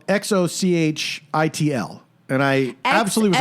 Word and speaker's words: Xochitl: And so it says it sounds like Okay. Xochitl, S-O-W, and then a dot, C-H-E-E-L, Xochitl.